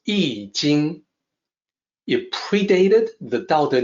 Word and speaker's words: I Ching: And please note, when I say I Ching, that is the way it is pronounced. It is also the way people are supposed to pronounce it using the Wade-Giles romanization system. It is not I Ching, it is not I Ching, it's I Jing.